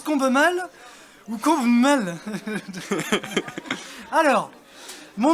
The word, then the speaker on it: Combemale: Et donc ça se prononce Combe-mal, tout se prononce. Après, je me retourne si vous dites Combe-mal, je me retournerai, je sais qu'on parle de moi. Ok. yeux. Si on dit le combe, Ah, ça non, par contre.